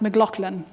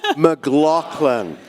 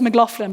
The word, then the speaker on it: McLaughlin: And by the way, my last name is pronounced McLaughlin. I can just... All together now? McLaughlin. My husband's family says McLaughlin, but they're wrong.